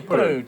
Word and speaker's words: Putu: Yeah, Putu. Just spit it out really quick. Spit it out. Yeah, no, it's me that twists it. That's how the Indos say it, Putu.